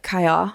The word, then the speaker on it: Caillat: of people don't apparently in France I say it wrong even like it's supposed to be like Kaya or something but I say c yeah I think